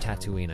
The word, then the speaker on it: Tatooine: Tatooine there's that word again yeah it's actually pronounced Tatooine I looked it up sugar rush Raceway of